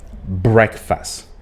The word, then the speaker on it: breakfast: The right pronunciation of the word is breakfast. Breakfast. It's not break. It's not coming from the verb break, even though it's written the same way, but you don't pronounce it the same way.